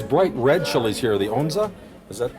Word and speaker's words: onza: These bright red chilies here, the onza?